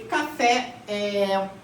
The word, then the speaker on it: café: Então a sílaba tônica é a última, certo?